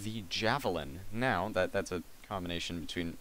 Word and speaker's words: JaVilin: Now, that's a combination between our names, JA for Just Another, which is like a little abbreviation, and then Vilgot for Villain, so it's actually JaVilin. There we go. It's JaVilin, however you want to pronounce that.